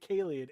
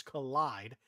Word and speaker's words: Collide: No, I keep calling it Kaleid. It's Collide. It's short for kaleidoscopic. Okay.